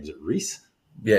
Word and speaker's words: Reiss: how do you say your name is it Rees yeah it's ree yeah okay some people could pronounce it R Rees oh yeah I thought